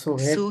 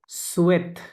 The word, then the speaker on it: souhaitez: pour vos prochaines Hossain Hossain vacances ভাকান্স vous souhaitez না না সোহেত না, সুয়েত, খেয়াল করে দেখেন। আচ্ছা সুয়েট এইচ তো ইউ হ্যাঁ সাইলেন্ট AIT এত সুয়েত, সুয়েতে সরি সুয়েতে, এটা ভুর সাথে কনজুগেশন, সুয়েতে।